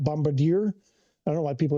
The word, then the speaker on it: Bombardier: Now the challenger you're talking I see you've written the about the um the bombard bombardier uh challenger I believe uh I bought the